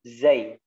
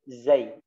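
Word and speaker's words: زاي: harus kita fokuskan adalah cara pengucapan huruf za, ya, huruf zai. Huruf apa? Huruf zai, za, ya. Di mana letak makhrajnya yang telah kita pelajari adalah kepala lidahnya diturunkan ke gigi seri bawah. Za, ya.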